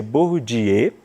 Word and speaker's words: Bourdieu: um sociólogo francês é atenção que a gente escreve Pierre borro de eu mas se pronuncia burrodier e ele fez uma